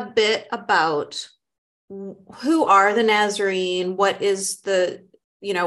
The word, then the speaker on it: Nazarene: So let's start off with you telling me about, Nazarene, is that how you pronounce it? Yeah. Nazarene.